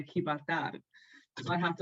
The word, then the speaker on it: Gibraltar: Like soy trabajar en Gibraltar, because I have to say like not Gibraltar because they don't say it like that. They say Gibraltar.